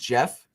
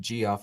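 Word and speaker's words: Geoff: well wait i do have something so wait like uh jeff lambert is it pronounced jeff yes like you know lambert on twitter i always pronounce it g off in my head you psycho it makes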